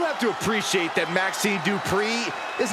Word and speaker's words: Dupri: Uh Michael, it's pronounced Dri.